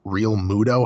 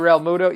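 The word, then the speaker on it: Realmuto: Is it Real Muto? How the hell do you pronounce this guy's last name? JT Real Muto?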